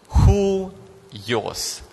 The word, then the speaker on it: huios: you want to try who yours who yours so yeah who yours you pronounce it you'll be like h-u-y-o-s who yours but that will be the Greek pronunciation okay Julio's who use